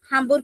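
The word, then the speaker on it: Hamburg: हामबुर्ग हमबुर्ग की भी [गला साफ़ करने की आवाज़] हमबुर्श बोल लो या हमबुर्ग दोनों प्रोनाउंसिएशन है।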